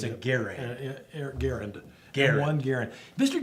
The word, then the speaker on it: Garand: Well, you know, basically you have the M1 Garand, and it is pronounced Garand, not Garand, not other ways. Mr. Garand himself said it's pronounced Garand.